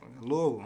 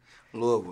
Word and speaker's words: Louisville: to I don't want to butcher that here Louisville you know what I'm saying City Louisville hey shout out to do life man that's